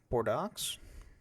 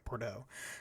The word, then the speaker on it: Bordeaux: brought by General uh Bordox. Bordeaux. Bordeaux. It's French. I don't think you pronounce the X. Okay. Bordeaux.